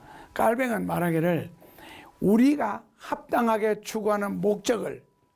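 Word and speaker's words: Calvin: 그러니까 이 말에 대해서 요한 칼빈은, 원래는 발음이 깔뱅이죠. 깔뱅은 말하기를 우리가 합당하게 추구하는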